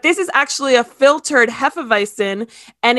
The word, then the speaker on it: Hefeweizen: Now, if you drink we say Hefeweizen, that's the way you pronounce it.